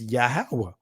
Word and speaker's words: Yahweh: It didn't have it was only the ah sound that was associated with the vowel, with the consonants. So it's pretty easy to pronounce. It's Yahweh. And you can look it up. Hawa means he exists. If you say Hova or Hua, that means destruction. It means ruin.